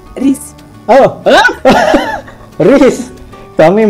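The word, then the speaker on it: рис: Ini nasi, bacanya ris.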